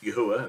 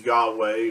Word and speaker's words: Yahuwah: study, we know that the Creator's name is Yahuwah. That's the way it's pronounced. It's not pronounced as Yahweh or these other variations, Yehovah or Jehovah, or his name is pronounced Yahuwah.